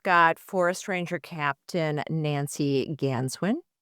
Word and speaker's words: Ganswindt: We've got Forest Ranger Captain Nancy Ganswin. The T is silent and forest ranger Chuck Cabrell.